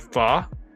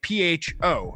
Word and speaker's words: pho: And it's funny because it's spelled like pho, like PHO. You would think pho, but it's actually pronounced pho.